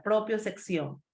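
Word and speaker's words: propiocepción: Pero también, chicos, de otros también que no son tan conocidos debemos hablar, como es la propiosección, así como se pronuncia, propiosección.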